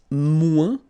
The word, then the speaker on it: moins: Then if you want to say less, it's moins in French. So no discussion about the S here. Don't pronounce it.